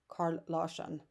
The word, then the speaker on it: Carl Larsson: Swedish artist, Carl Larsson, or I would pronounce it as Carl Larsson.